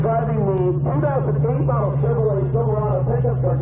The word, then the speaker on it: Silverado: Now, Silverado is the correct way to say it. The left driver's Dory, and he says Silverado. And if I say Silverado, Julie really wants to claw my eyes out.